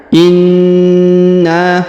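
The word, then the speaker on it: إِنَّا: Perhatikan ini huruf na ditahan dan ditekan. Inna, kemudian dipanjangkan 5 harokat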